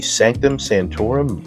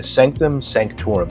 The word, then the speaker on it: sanctum sanctorum: set number 76218 the sanctum Santorum modular I'm pretty sure I pronounced that right yeah sanctum sanctorum sorry there we go that's much better yeah I got this